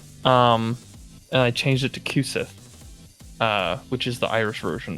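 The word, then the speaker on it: Cú Sídhe: Kusith's got Kusith actually is an Irish word. It's spelled Cusidhe.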